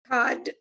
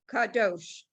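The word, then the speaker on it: קדוש: right lila line seven cod excuse me kadosh right and that fourth one is ka i think you said cod because you had cod cod for the first three all right so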